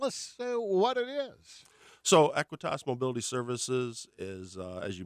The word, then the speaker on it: Aequitas: Now, is it pronounced Aequitas? Aequitas. Aequitas.